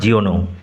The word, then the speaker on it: Jean: আজ আমরা পড়ব class 8 lesson 13 দ্য ম্যান who planted trees by জা জিওনো। উচ্চারণ লক্ষ্য করো। ফরাসি লেখক JEAN, উচ্চারণ জিন হবে না, ফরাসি ভাষায় এর উচ্চারণ জা জিওনো।